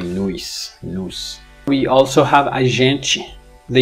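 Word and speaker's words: nós: brazilian portuguese for we we have nos they actually pronounce it something like nuis we also have agency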